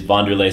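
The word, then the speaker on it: Wanderlei: He is Vanderlay Silva. I finally pronounced his name right.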